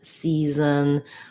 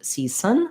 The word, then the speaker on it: season: um and this um this s is also a z sound so reason season um you wanna make sure that you're using your voice not csun but season or seasons um and in greetings